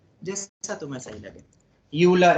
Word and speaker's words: Euler: यूलर, अब spelling पे मत जाना, ठीक है।